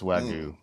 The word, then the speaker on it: Wagyu: Yeah, it's Wagyu. Not the Y is not pronounced. It's silent.